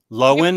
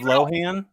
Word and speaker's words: Lohan: what did she change your name to loin lowen instead of lohan we would all say lohan and like never corrected anyone and then finally she was like um it's actually low end and we're like no it's not so